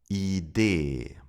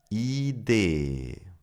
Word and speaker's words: Idee: Idee. First a long I, then a long E. Did you hear the difference? Idee.